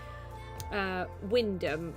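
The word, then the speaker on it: Wymondham: Wyndham is spelt like Wymundham, and Acle is spelt like Ackley.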